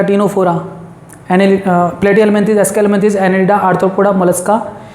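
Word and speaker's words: Ctenophora: टीनोफोरा में भी सी silent होता है।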